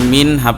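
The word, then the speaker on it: مِنْهُ: পেশ হু মিন হু নুন সাকিনের পরে হা আসছে এই জায়গায় তো এই হা টা হামজা হা এই হা হলো এজাহারের একটা অক্ষর অতএব এখানে নুন সাকিনের উচ্চারণটাকে গুন্না ছাড়া স্পষ্ট করে পড়তে হবে মিনহু মিনহু এরপরে মানবানা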